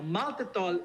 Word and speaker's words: maltitol: Now, maltitol is an alcohol-based sugar. Alcohol-based sugar is a disruptor in the gut. And you know it's alcohol because it rhymes with alcohol, like maltitol, erythritol.